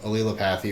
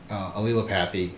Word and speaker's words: allelopathy: And if you haven't heard of allelopathy, or maybe you've heard people call it Allelopathy, I've heard a bunch of different pronunciations. Allelopathy, I believe, is one of the correct ways to say it, so I'll stick with that.